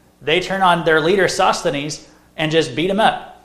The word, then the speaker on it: Sosthenes: and I'm just like how do you pronounce this word and Google popped up and it said you know Sosthenes you know my computer